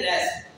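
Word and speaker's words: wrist: अब आप खुद देखिए आप खुद क्या कह रही है, रेस्ट, क्योंकि डब्ल्यू इज साइलेंट।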